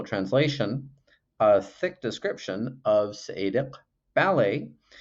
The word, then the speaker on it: Seediq: a thick description of Seediq Bale where the "q" there is a uvular stop that's kind of like a "k" except pronounced farther back in your mouth, now Seediq Bale is